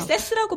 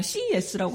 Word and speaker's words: CES: 세스라고 발음 안 하더라고요. 세스인가 했더니 미국 그러니까. 사람들 그냥 CES라고 하더라고요. 그러니까.